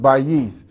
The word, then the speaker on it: bayith: But it should be pronounced bayith. And it's B-A-Y-I-T-H, bayith.